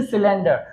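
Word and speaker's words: cylinder: इसी तरीके से सिलेंडर, सी के बाद में वाई है, इसीलिए सी का जो उच्चारण है वो क्या है बेटा? सा के रूप में हम करते हैं।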